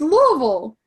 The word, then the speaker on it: Louisville: It's Louisville.